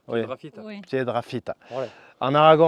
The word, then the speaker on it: Piedrafita: Non, c'est pas un deux mots, c'est un seul mot. Piedra Fita.